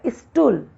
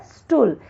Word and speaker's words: स्टूल: जैसे अशुद्ध शब्द है स्टूल, लेकिन इसका शुद्ध है स्टूल। इसमें ई को व्यर्थ ही लगाया गया है।